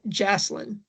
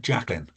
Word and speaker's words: Jacqueline: Do you pronounce this name Jacqueline or Jaseline? So, I would pronounce that Jacqueline.